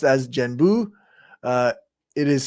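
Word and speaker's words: 玄武: In Japan, the characters are pronounced as Genbu.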